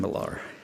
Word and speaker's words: Millar: pronounce it right pat there's many ways to pronounce miller milar or all kinds of things but i always called him gordon milar gordon's life to me